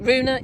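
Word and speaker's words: Rune: jackovic was playing against someone called Runa um uh Duna I think is uh is it Runa yeah from Denmark um that's how you pronounce it and the the crowd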